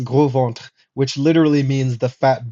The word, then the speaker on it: Gros Ventre: The gros ventre. Now, this is just funny because, or the gros ventre, as probably the Americans would say it, but it's pronounced gros ventre, which literally means the fat belly people.